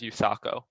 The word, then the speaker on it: USACO: So first of all, what is the USA Computing Olympiad, or commonly abbreviated to USACO, which I'll pronounce as USACO.